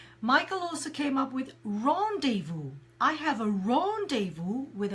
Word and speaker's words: rendezvous: have a meeting a rendezvous is more literary but we use we tend to use meeting more but rendezvous pronounced in the same way as French so if you're a